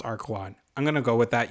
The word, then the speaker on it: Archelon: the archelon archelon archelon i think it's pronounced archwan i'm gonna go with